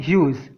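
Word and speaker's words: huge: इसका उच्चारण होता है ह्यूज। कैसे? तो ये है ऐसे। यदि जी के बाद ई आ जाए तो प्रायः जी का उच्चारण ज होता है।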